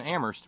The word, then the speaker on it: Amherst: note from Terry in Amherst where only the H is silent what guts it took